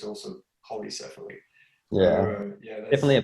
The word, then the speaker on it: Polycephaly: And the track you're talking about, I think you pronounce it Polycephaly.